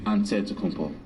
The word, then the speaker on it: Antetokounmpo: the kumbo's last name he helped set the record straight of how you pronounce it way you gotta say with the d so it's a deadpool but in the greek way you say with the nt like antetokounmpo whatever you got just